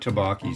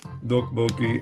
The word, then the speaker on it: tteokbokki: there and they have tteokbokki and it's spelled T-O-P-P-O-K-K-I. Tteokbokki, you know? I know that's not correct, but it's harder to get Westerners to pronounce it correctly, and if they say tteokbokki, it's understood.